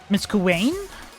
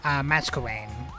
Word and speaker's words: Masquerain: Miss Kuwain? Probably pronouncing that wrong? Yeah, Masquerain.